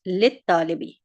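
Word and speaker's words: لِلطَّالِبِ: Examples, li plus al-mudarrisi becomes lil mudarrisi, and li plus at-talibi becomes lit talibi.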